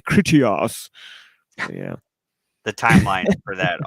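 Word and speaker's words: Critias: kritias you know Christians actually I guess it's pronounced critious I'm not supposed to say kritias yeah the timeline for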